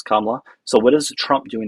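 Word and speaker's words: Kamala: Well, I don't support Biden and Well, I mean, if Chameleia would have been president, Kamla, we're going to say her name correctly, please. Kamla.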